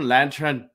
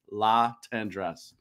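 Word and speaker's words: Latendresse: by me, is Guillaume Lachendresse. I knew I was going to mess it up. Lachendresse. Lachendresse. I had to like spell it phonetically. La Tendresse. There you go. Guillaume La Tendresse.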